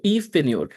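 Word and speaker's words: Yves Pigneur: Okay, so Eve Pine.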